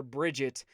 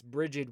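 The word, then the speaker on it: Brigid: the irish version okay so a lot of people call her bridget with a t that is not correct it's bridget with a d so i will bring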